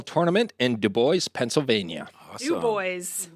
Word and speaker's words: Du Bois: Du Bois. Du Bois. I hate this pronunciation.